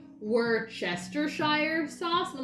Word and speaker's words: Worcestershire: a chuck in there where's the shirt is how i was told to say it but that skips a whole syllable where chestershire is how it's spelled anyway there's no expiring